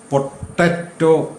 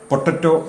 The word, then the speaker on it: potato: നമുക്ക് വിശദമായി നോക്കുന്നതിന് മുൻപായി ഉരുളക്കിഴങ്ങിൻ്റെ ഇംഗ്ലീഷ് പദം എല്ലാവരും പൊട്ടറ്റോ എന്ന് പറഞ്ഞു കാണുമായിരിക്കും. ഇതിനോടകം പൊട്ടറ്റോ എന്നല്ല അതിൻ്റെ ഉച്ചാരണം. പോയല്ല പൊട്ടേറ്റോ.